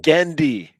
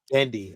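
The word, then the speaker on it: Genndy: butcher it every time gendy dendi I'm sorry there's no yeah there's no R yeah I don't know where it comes from I don't that an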